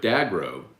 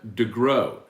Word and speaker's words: Degrow: pronounce their name so i've been saying brett dagrow forever but he told he was there yesterday rouses and introduced himself as brett degrow um brett could not